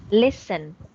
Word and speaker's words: listen: Listen. Listen. Okay, it is pronounced as silent T.